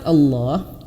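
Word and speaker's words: الله: seperti itu ya, itu kalau di belakangnya lafaz Allah ini belakangnya ada berharokat fathah atau dhammah, bergaris atau atas atau bergaris depan, maka Allahnya itu tebal.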